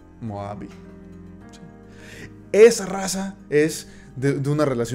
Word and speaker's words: Moabi: Meabi, como se pronuncia. Moabi.